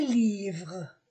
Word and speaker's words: livres: gomme une gomme des livres des livres on ne on ne prononce pas le S des livres pluriels un